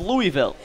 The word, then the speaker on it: Louisville: Louisville. So it's the correct way to say it. Yeah, it is? Louisville. It's the correct way to say it according to a Louisvillian, I think.